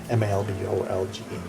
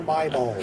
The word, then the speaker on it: Malbolge: Malbolge. Not the Bar My Bulge. The Bar Malbolge.